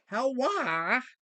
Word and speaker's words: HELWÄR: Let me say it right. HELWÄR. Yeah. Wah.